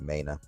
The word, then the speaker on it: MENA: So it's central bank digital currency in the MENA region, or MENA region. I would pronounce it MENA.